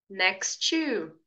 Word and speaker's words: next to: Então, em vez de você falar assim, ó, next to, diga next to, next to. Perceba que a palavra next realmente se pronuncia next. Você ouve a letra T de forma bem sutil, mas você ouve.